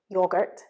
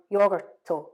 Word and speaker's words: yogurt: end of their words so for example the word yogurt for us yogurt can become yogurto or yogurt because it's just not natural for you to end it with the sound but